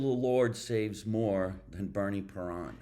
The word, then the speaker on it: Parent: So parent is how you say it in French here in the United Parent.